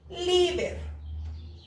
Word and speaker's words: líder: ni en N ni en S, entonces sí lleva tilde, se la vamos a colocar, líder.